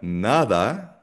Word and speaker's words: nada: o dia quando ngayon ang D nagiging soft D kapag pinagigitnaan siya ng dalawang vowel. So ito yung pagkakaiba niya sa tagalog. So for example ang word na nada. Nada. So kung mapapansin ninyo hindi ko siya binigkas ng nada na na madiin. Kapag ang D ay nasa pagitan ng dalawang vowels. Ah mas mas soft siya. Okay? Hindi siya masyadong madiin na D.